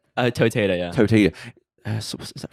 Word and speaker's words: Toteda: Toteda.